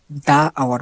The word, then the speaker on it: the: এইখানে দেখেন আওয়ার, আওয়ার শব্দটার এইচটা কিন্তু কনসোনেন্ট, সুতরাং আমাদের নিয়ম অনুযায়ী এখানে দা আওয়ার পড়ার কথা, কিন্তু আমরা পড়বো দি আওয়ার।